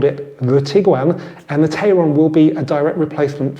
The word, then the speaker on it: Tayron: I've been advised that my pronunciation of Tyron is incorrect and it should actually be Tyron sorry about that okay